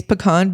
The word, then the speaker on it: pecan: properly can I mean the pronunciation is properly is pecan because you don't pain in a can I learned that in